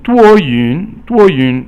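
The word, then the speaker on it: 多云: And then 多云 is cloudy outside, and 多 is 一声, and 云 is 二声 or second tone.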